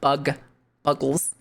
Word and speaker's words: Buggles: It spelled like Buggles. Is it Buggles or is it Bugles? Yeah, there's two G's. There's two G's, which usually means it's Buggles.